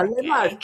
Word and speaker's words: Le Marche: Is it le Marche? And oh my God, it was making my head hurt. But I checked with the regent for our purposes. We called it the yeah, Le Marche. Marche.